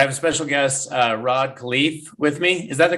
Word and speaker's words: Rod Khleif: well but i have a special guest uh rod khalif with me is that the correct pronunciation yep yep yep thank you yes good